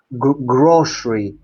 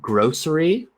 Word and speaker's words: grocery: you were pronouncing grocery, you pronounce it the S sound with sh. This is common in American English, right? Yeah. Um, so g, this is actually one where you can pronounce it a couple different ways. So you might hear some people saying grocery, the grocery depending on maybe different parts of the United States.